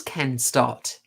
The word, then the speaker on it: Stott: I always get his name wrong. Let's confirm. It is Ken Stott.